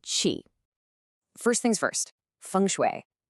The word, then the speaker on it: Qi: That's called Qi, pronounced Qi.